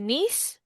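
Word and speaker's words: niece: Boleh children or child, anak laki-laki, daughter, anak perempuan ni keponakan laki-laki nieis. Cara bacanya ya, bukan nice ya, Teman-teman. Nis.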